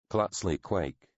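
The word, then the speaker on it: Klatsli Quike: How is your name properly pronounced? He grinned, glanced apologetically at a beaming, eyebrow waggling Puanvangi. Clutsley Quake, he told her.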